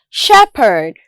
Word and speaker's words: shepherd: Also, the consonant sound P can be spelled as PH in the word shepherd.